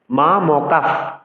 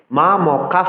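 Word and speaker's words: মামকাঃ: এর পরের ব্যঞ্জনটির দুবার উচ্চারণ করতে হয়, দ্বিত্ব উচ্চারণ করতে হয়। যেমন মা ম কাফ, মা ম কার পরে কিন্তু বিসর্গ রয়েছে, ৩ অক্ষরে কিন্তু আমরা বিসর্গটি পেয়েছি।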